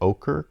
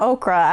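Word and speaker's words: ochre: 6 and the yellow ocher colorways I had to spell that or say that how do you spell it o-c-h-r-e is it ocher or okra it's not okra I thought maybe that's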